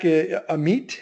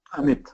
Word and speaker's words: Amit: Next one, Mac, Amit, is that how you pronounce the name? Yeah, Amit.